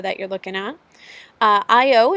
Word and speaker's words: Io: you're looking at uh IO is how you say that Europa ganim me and